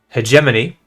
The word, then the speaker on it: hegemony: want to address um first of which is hegemony is the correct pronunciation the second thing is that the Chili